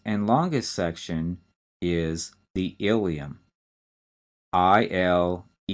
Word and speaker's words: ileum: And the last and longest section is the ileum. I-L-E-U-M. Not to be confused with the bone, that's the ileum. That's spelled I-L-I-U-M.